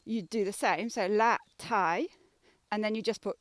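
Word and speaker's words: la taille: with pronunciation la tai you can just say it as like la and then a tie you know like a tie that you wear with a shirt so la thai people would understand you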